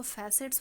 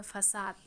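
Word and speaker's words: façade: अच्छा, ये जो आप लोग बहुत लोग पढ़ेंगे तो इसको फैसेट्स पढ़ेंगे, नहीं, आप इसके प्रोनाउंसिएशन को गूगल करेंगे, इसे कहते हैं फसाद, और फसाद का मतलब होता है मुखौटा।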